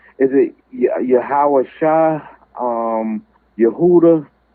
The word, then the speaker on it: Yahweh: No, if we say the Lord's name, we would say Yahweh. That would be the proper way to say his name. Yahweh.